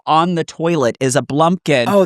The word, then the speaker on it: blumpkin: Like pumpkin, but B L U M P K I N.